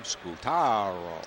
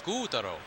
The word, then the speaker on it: Scutaro: into last night who wants to make sure that we pronounce his name scootaro yeah except again the fly in that ointment is when we asked him in oakland back in april he said it's scutaro lyon shot foul